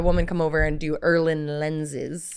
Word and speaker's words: Irlen: Irlen, Irlen. That's not how I was going to spell that, so okay.